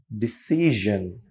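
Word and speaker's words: decision: য প্লেজার যি আচ্ছা এখানে আমরা সন বলি তাই না ডিসিশন আমরা এটার উচ্চারণ হবে জন ডিসিশন রাইট তাহলে ইউজুয়াল প্লেজার ডিসিশন কিছু সাউন্ডের আবার ভেরিয়েন্ট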